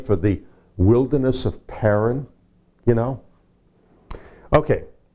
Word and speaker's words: Paran: Anyway, Paran is made up of, here's how it's spelled. The first part of the word is pronounced pay, as in pay, which means mouth or opening.